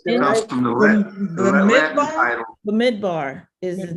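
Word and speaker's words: במדבר: And How's that pronounced? it's It comes derived from the Latin title. Bemidvar is his name. Bemidvar.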